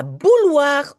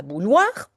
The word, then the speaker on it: bouilloire: I think here in Belgium we say bouilloire. And then I think in France people say bouilloire. Whatever, please tell me if you know somebody who speaks French. Ask this person how should we pronounce the word kettle. We here in Belgium we say bouilloire, we say the L.